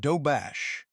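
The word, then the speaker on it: Doberge: Dobberge cake, pronounced dobash, a corruption of the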